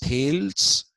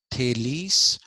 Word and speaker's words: Thales: the slide okay Tes it's not pronounced Tales it's pronounced thales uh Tes was the